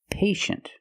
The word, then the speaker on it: patient: With patient, we see TIE, making the sh sound. Patient. The first syllable is a long A, like day and pay, pay. And shin. The second syllable is a closed sound. Sh, sh, shin. Patient. Patient can be an adjective.